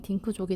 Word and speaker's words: 딩크족: 여기 앞글자 D, 더블, 인컴, I, 노, N, 키즈, K 해가지고 이거를 그대로 발음하면 딩크족이 되거든요.